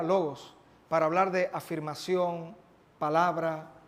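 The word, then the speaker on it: λόγος: La palabra verbo traducida así en nuestra Biblia es una palabra que en su idioma original que fue escrito, la palabra se pronunciaría logos, para hablar de afirmación, palabra, verdad.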